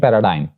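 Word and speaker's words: paradigm: एक और रूल जी का ये है कि जी इज not pronounced before M, यानी जी एम से पहले भी प्रोनाउंस नहीं किया जाता, वो साइलेंट होता है। मिसाल के तौर पर डायफ्राम, फ्लैम एंड पैराडाइम, तो यहां पे जी will be silent because it is coming before M.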